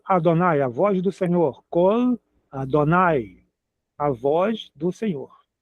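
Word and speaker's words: קול: um som vocálico, mas no hebraico não é o som vocálico, é o L. É L mesmo, é L. Então é col, tem que pronunciar o L.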